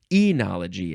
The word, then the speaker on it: enology: just want to pick anology as the word of the episode um enology is technically the right way to say it uh be just because